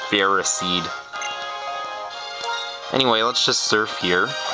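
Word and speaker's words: Ferroseed: here were absolutely adorable in the anime they actually pronounce that feros seed but I like pronouncing it feris seed anyway Let's Just Surf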